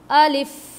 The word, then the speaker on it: alif: अभी एक चीज़ का और भी ध्यान रखना है हमें, देखिए जब हम प्रोनाउंस कर रहे हैं अलिफ अलिफ अलिफ अलिफ, तो जो